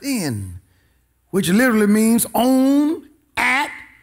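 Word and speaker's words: ἐν: The first word is the word in, E-N, pronounced in, which literally means on, at, or by.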